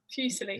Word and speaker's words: Fusilli: Fusilli.